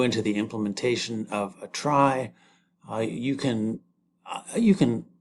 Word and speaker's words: trie: T R I E pronounced try.